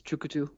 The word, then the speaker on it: Tchoukoutou: know Shand folks over just call it chuk but the the whole word is chuku um it's a word